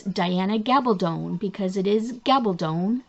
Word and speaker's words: Gabaldon: yes her name is gabaldon it rhymes with stone so um if you need to you can go ahead and google how to pronounce diana gabaldon because it is gabaldon rhymes with stone so